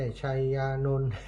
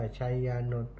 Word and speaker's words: ไชยานนท์: เครือ ชัย คันธา อ่า ชัย คันธา ไม่ ใช่ ชยานนท์ แต่ เจ้า อ่าน ว่า ไชยานนท์ อ่า แม่ ทอง เครือ